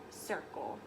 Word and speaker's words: circle: not the letter S the word circle actually starts with the C it's just one of those tricky sounds that you'll learn later so a circle starts with the C and you say it like circle and then let's count